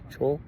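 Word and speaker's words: Chöd: ancient practice called Cho it's spelled like CH h o d the has two dots above it CH it looks like CH but it's Cho and um that one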